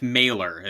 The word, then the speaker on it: malar: 'Cause I'm thinking molar, and it's malar. I do know it's pronounced malar, but Oh, sorry.